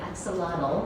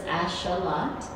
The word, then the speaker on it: axolotl: I this year only knew that it's actually supposed to be the X is a sh sound, and then there's like the L is silent, so it's axolotl.